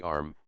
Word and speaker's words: Ana: The word Ana, pronounced broadly arm, corresponds with our plural men, and, pronounced am, the singular, with man.